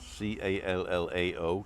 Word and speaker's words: Callao: So I'm at the Terraza El Hable in Callao Salvaje.